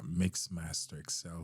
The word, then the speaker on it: MixMasterXL: Also, X username for those account is Mixmaster Excel, spelled just like it pronounced MixMasterXL, all one word.